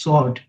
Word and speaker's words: sword: W is silent in that. It's sword.